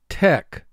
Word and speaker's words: tech: Tech. Tech. I had to call tech support. Tech. Three sounds. T. E. K. Tech. Mark the word. Tech. CH here is representing the K sound, so we double underline CH.